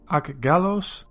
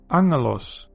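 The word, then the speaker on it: ἄγγελος: You might be tempted to pronounce this word as aggalos or agelos, but the double gamma is actually pronounced as ng. So then you get angelos, which is often translated as angel, and it means messenger.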